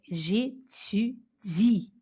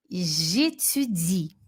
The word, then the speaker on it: j'étudie: Eu estudo em francês é j'étudie. E olha como se escreve. Escreve étudier. Mas eu não falo esse e aqui, tá bom? Então vamos lá comigo? J'étudie.